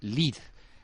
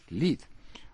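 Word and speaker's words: Lied: cantos o las canciones lid se dice en alemán le agradecemos a sergio que el sur ayuda en esa materia porque se escribe light pero la e no se pronuncia y ha de decirse leed obras orquestales de primera magnitud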